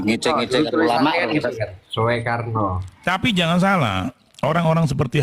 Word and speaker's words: Soekarno: Tulisan OE dibacanya kan U itu zaman dulu itu. Bang Majid nggak paham itu. Tulisan OE. Oh, masa kok udah ngecek-ngecek ulama Tulisannya gitu kan. Soekarno.